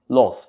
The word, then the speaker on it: loath: Okay, loathe, the short pronunciation. Why? Because it is an adjective. On the other hand, B, loathe, is a verb.